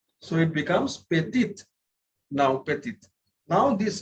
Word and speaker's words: petite: So whenever there is an E at the end, the previous consonant is pronounced. We have learned it in the chapter of pronunciation. So it becomes petite.